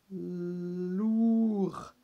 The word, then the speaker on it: lourd: pour et celui ci on essaye lourd et on prononce pas le des on dit qu'il est muet par contre si on dit elle est lourd deux on rajoutera un e et on dira lourde mais là il n'y a